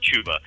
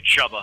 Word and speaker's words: Chuba: running back chba Hub I think believe believe it's pronounced chuba but you read it just phonetically chubba Hub chubba chubba chu chu